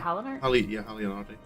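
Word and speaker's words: Halone: Halon. Oh, that's how you say it. I don't I maybe I don't know if it's ever voiced. Yeah, me either. That's kind of why I just said Haler cuz it's easier to say.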